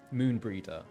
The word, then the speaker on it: Moenbryda: Moenbryda. Is that the correct pronunciation? Moenbryda. Thought so.